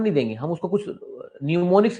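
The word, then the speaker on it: mnemonics: न्यूमोनिक्स में am silent है बच्चों।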